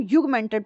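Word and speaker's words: augmented: अब आपके पास आता है ऑग्यूमेंटेड, इसको हम युगमेंटेड प्रोडक्ट बोलते हैं बेसिकली। इसमें ए जो है वो साइलेंट होता है।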